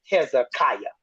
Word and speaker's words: Hezekiah: to the English-speaking people you might want to pronounce it this way so they all know who you talking about Hezekiah so Hezekiah is the